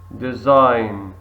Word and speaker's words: design: right excellent W silent design design very good G silent scientist scientist very good